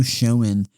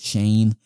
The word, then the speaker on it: Schoen: And then with the Giants, they are keeping GM Joe Schoen, or Joe Shane. I think it's pronounced Shane, which is an insane decision.